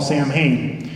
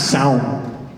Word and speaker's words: Samhain: it was a harvest festival that Americans call Samhain and I'm gonna mess this up entirely and